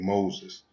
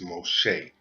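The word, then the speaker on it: מֹשֶׁה: these books was groped by a man named Moses now what I have here is his Hebrew name and the correct pronunciation is most Shea it is not Moses and most people think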